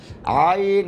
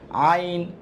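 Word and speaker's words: ع: থেকে হাকের মাঝখান থেকে এটার মাখরাজটা দুই নাম্বার মাখরাজ এটা আছে আইন আর হা সেইম মাখরাজ আচ্ছা এটা খ বানানোর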